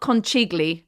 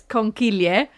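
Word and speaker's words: conchiglie: So yeah, it's not conigly everyone. By the way, you've been saying it wrong. It's conilier.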